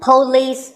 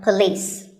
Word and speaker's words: police: is police this isn't police or police it's pa and lease with the stress on lease so police the next word is